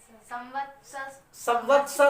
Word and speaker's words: संवत्सर: मेरे ख्याल से स्टूडेंट्स ये गलत उच्चारण पढ़ रही है। पढ़ो उसमें, कौन बैठा पढ़ो उसको। नव संवत्सर होगा, संवत्सर।